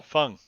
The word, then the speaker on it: Phung: Fung. Fung, Fung. It's spelled slightly different. That's how he knows the name. PHU. Isn't It's PHUNG, and it's Vietnamese.